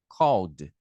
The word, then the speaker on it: called: O verbo terminou com a letra L, igual na palavrinha call. Você vai pronunciar com D. Então, olha como que fica a pronúncia. Called.